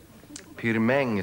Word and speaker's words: Pirmin: Pirmin Surbryggen. Pirmäng. Va? Pirmäng Surbryggen, det är franskt uttal. Han kommer från franska Schweiz.